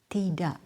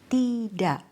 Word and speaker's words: tidak: Tidak, bapak, anak, kakak. Many native speakers don't fully pronounce the final K. Instead, tidak, bapak, anak, kakak. The sound stops suddenly.